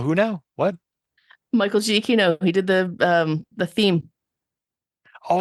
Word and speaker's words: Giacchino: Michael Giacchino. He did the theme Oh, for Prodigy. is that how you pronounce his name?